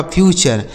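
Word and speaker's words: future: एफ यू टी यू आर ई। तो एफ यू से हो गया दोस्तों फ्यू। और टी यू आर ई का उच्चारण हो गया चर। यह लिखा गया आपका फ्यूचर।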